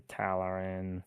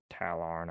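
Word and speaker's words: Tallarn: Mordian Mordan, the Valhallen, the Talarin or Talon. I guess I maybe was adding an extra syllable there.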